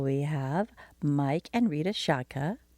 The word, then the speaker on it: Szczotka: Well, speaking of love, this next couple we have, Mike and Rita Szczotka, rhymes with vodka.